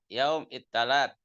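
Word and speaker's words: يوم التلات: Saknya jadi tak. Yaum ittalat. Gitu bacanya. Inti pihimti ya heti. Nah, Ustaz. Nah, nanti setelah saya jelaskan kamu jelaskan lagi ya. Yaum ittalat. Sa jadi ta.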